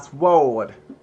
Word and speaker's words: sword: Yeah, I used to pronounce the W.